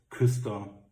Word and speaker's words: Küster: We pronunciate it as Küster, and the suit Friedrich.